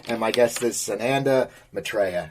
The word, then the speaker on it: Maitreya: pronounced my last name my natural inclination as American is to say matria okay but in England excuse me in Europe the uh Mai is obviously emphasizes my trail so I'm happy to